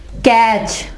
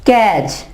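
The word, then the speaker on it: catch: जैसे कैच, कैच, T के बाद CH जब आ जाए T के बाद तो T जो है बस आवाज नहीं देगा। कैच नहीं कहेंगे हम कहेंगे कैच। T क्या है, साइलेंट।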